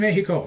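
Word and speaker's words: México: in Mexico, he said. Notice I pronounced the X as an H.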